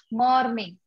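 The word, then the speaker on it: morning: Good मॉर्निंग, good मॉर्निंग, ठीक है। Actually ये जो मॉर्निंग में जो आर है ये साइलेंट होता है, ठीक है, तो आप क्या कहोगे?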